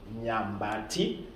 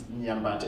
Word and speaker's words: Nyambati: My name is Nyambati, Nyambati. That is my traditional name. That one might be hard for you to pronounce, but it's Nyambati.